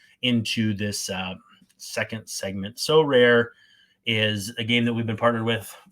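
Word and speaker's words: Sorare: this uh second segment so rare is a game that we've been partnered with for a bit here it's spelled exactly like it sounds s-o-r-a-r-e so rare it's a revolutionary fantasy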